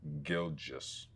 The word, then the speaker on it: Gilgeous: The confusing part is probably the Gilg. So, it's Gilgous.